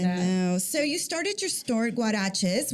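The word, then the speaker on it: Guarexez: so you started store guaraches which is spelled g-u-a-r-e-x-e-z which by the way the x is a CH sound yeah which by the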